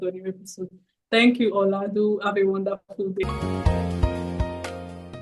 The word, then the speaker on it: Olawale: Can you Can you pronounce your name? Olawale.